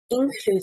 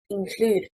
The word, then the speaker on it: include: Include, stressing on the first syllable, is incorrect. Include, stressing on the second syllable, means insert.